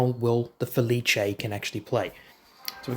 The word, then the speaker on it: Felice: Feliche, not Felis.